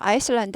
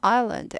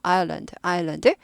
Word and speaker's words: island: 아이슬란드 하지 않고 island. S는 발음을 완전 무시하는 거예요. 사전 자체에도 S 발음 없어요. 그래서 아예 발음 안 하는 겁니다. 아일랜드, 섬이란 뜻이고요.